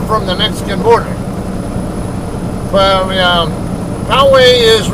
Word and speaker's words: Poway: The way we pronounce it locally is Poway, but I think a lot of the out-of-towners I know, out-of-staters I know, come on.